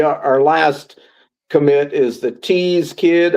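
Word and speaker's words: Thies: Uh and then the the our last commit is the Tease Kid. I pronounce it Tease. It's T H I E S.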